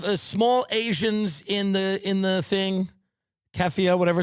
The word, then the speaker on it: keffiyeh: So you have small Asians in the thing, keffiyeh, whatever it's called. Am I pronouncing it?